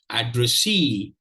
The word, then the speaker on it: addressee: Say this shows that this is the primary stress syllable. This shows that this is the secondary stress syllable. So very interesting word, addressee.